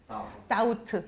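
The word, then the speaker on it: doubt: 그리고 B가 묵음이에요. B가 소리가 안 나요. 어떻게 읽어? 아우트가 되고요. 이렇게 쓰면 다우트 얘가 없는 것처럼 읽으시면 됩니다. 그래서 have우드 다우트는 의심하다.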